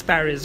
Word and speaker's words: Paris: pronounce in history because they pronounce it in the French way because Paris is actually